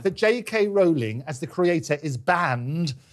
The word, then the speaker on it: Rowling: said is, don't apologise to me, J.K. Rowling as in bowling, that's how you pronounce the name, but don't apologise to